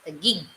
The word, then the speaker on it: Taguig: Papi Pangit, Pili, Taguig is pronounced Taguig. City in Greater Manila Met. We found S in our house the other day. Never been Taguig. Targig.